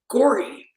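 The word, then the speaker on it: Gauri: that name, Julie, and that name is Gory. That's how it's actually pronounced, Gory.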